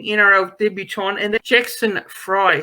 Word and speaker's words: Fry: Yeah, look, first and foremost, I think I sort of pronounced his name as Frey, but I do now believe it is Fry as opposed to Frey.